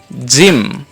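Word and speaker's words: gym: ইর মত উচ্চারণ হয় তাহলে এখানে হয়ে গেল জিম উচ্চারণটা কি হয়ে গেল জিম এবার যদি আমরা দেই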